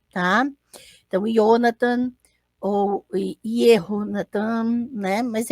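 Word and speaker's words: יהונתן: Então, eu vou falar Jonathan, mas não há som de J no hebraico, então o nome vai sempre ser pronunciado como se tivesse um Y no começo, tá? Então, Jonathan ou Yehonatan, né?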